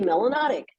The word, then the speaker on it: melanotic: system you must be melanotic which rhymes with exotic and is in the